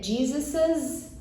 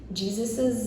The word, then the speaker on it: Jesus's: Outra peculiaridade é a pronúncia. Então ficaria Jesus's life. Jesus's life.